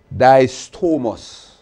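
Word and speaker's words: δίστομος: the greek word it should be d-i-s-t-o-m-o-s it's pronounced distormos right go to make that correction and we'll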